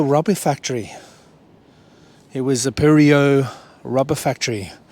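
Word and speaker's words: Perdriau: It was a Purio rubber factory. It's got a D in the name, but the D is silent in the French French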